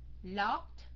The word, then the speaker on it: locked: ED ở đây mình đọc thành âm gì các anh chị? TD hay là it? Locked, locked, hay là locked? Yeah, T phải không các anh chị? Tại sao? Tại sao mình phát âm thành chữ T? Tại sao? Yeah, tại chữ K, cup phải không?